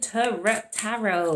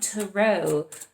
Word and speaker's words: tarot: And this is the Gilded Tarot. Why do I want to say Gilded Tarot? I've heard enough Americans say it, that's why, but it's tarot, okay? We're in the UK.